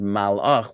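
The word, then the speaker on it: מלאך: Okay, it sounds like this word malach, and some people might say, "Oh, melachim are kings," from the word melech, right? It's not melech as king either.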